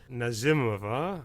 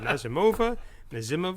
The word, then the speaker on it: Nazimova: This is the Camille that stars Nazimova. I think that's how you... We kept all of us going back and forth. Is it Nazimova? But I think Nazimova is the more Russian pronunciation.